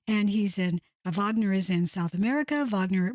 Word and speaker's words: Wagner: with them you may it's spelled with a W so you may be pronouncing in a Wagner but it's Vagner and this gentleman um